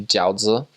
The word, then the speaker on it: jiaozi: So something that the Chinese members prepared for us often were probably jiaozi.